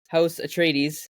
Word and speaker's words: Atreides: House Atreides, is that how you say it?